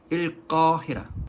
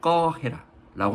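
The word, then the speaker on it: القاهرة: 알렉산드리아 두 지역이 그렇습니다 카이로는 꺼 해라 거 해라라고 하며 알렉산드리아는 스칸디아 스칸디아라고 합니다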